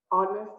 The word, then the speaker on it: honest: an honest mistake now the word honest here starts with h clearly and not a vowel right but it makes the vowel sound of therefore you pair